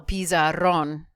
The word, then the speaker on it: pizarrón: Kind of sounds like pizza. El pizarrón.